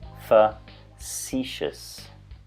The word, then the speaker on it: facetious: But we don't say face, tios. We say facetious. Interesting way to say it.